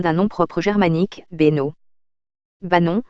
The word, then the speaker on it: Banon: nom propre germanique benno bah non en vivaro alpin et en provençal se dit et s'écrit banon dans la norme classique et banoun dans la norme mistralienne trois éléments principaux expliquent